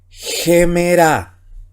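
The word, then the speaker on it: ἡμέρα: Y cuando aparece un espíritu rudo, dice acá, se pronuncia como la J. Entonces, la palabra que tenemos aquí, si usted ya domina el alfabeto griego, dice gemera, ¿ya?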